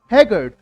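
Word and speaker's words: haggard: सही उच्चारण, correct pronunciation क्या है? हैगर्ड।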